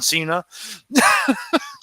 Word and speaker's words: Cena: John Cena. That's how you pronounce Cena. It means dinner.